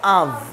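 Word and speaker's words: of: তাহলে আমি দেই এখন অফ দেই অফ দিলে কি হবে অফ coming অফ coming অফ coming এবং এই অফ এর ব্যাপারে কি বলছি এই অফ টাকে মূলত আমাদের উচ্চারণ করতে হবে আফ আফ কিভাবে আফ আফ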